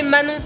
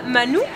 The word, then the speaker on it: Manon: C'est parce que quand je vivais aux États-Unis, ils savaient pas prononcer Manon. À chaque fois que je leur disais mon nom, ils étaient là, Manou, Manou.